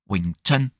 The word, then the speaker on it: Wing Chun: C'est c'est Ouais, c'est son très haut et donc ça se prononcerait enfin j'essaie de faire le meilleur condonné que je puisse faire, c'est Wington.